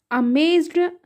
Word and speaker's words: amazed: ज़्यादातर डी का साउंड ट में आता है जब कभी भी ई डी लगता है लास्ट में वर्ड के, तो ट टाइप